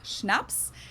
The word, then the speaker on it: Schnaps: alcohol culture in German we spell it like this and say schnaps and it means hard